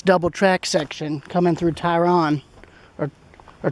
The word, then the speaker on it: Tryon: track section coming through Tryon, or Tryon. I keep mispronouncing it Tryon, like with an I instead of a R and a Y.